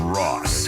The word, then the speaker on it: Rauce: It's Ross. To get. Spelled like sauce.